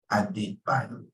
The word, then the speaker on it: Adebayo: It's pronounced as A, then D, A, D, Bayo. Adebayo.